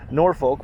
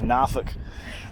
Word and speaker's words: Norfolk: And the first place me and my wife ever sailed to was from Norfolk, which they get mad at when you say it like that. It's Norfolk.